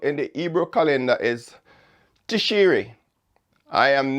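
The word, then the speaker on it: Tishrei: the seventh month in the ebro calendar is tishiri i am not sure i'm pronouncing this correctly but it's t-i-s-h-r-e-i tish tish ri tishri um i stand corrected this month's fall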